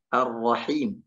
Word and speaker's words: Ar-Rahim: Tapi dibacanya adalah Ar-Rahim, masuk langsung ke huruf Ra. Dia mentasydidkan langsung ke huruf Ra tanpa membaca Lamnya.